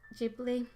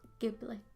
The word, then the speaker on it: Ghibli: It's pronounced Ghibli, not Ghibli. Ghibli with a J.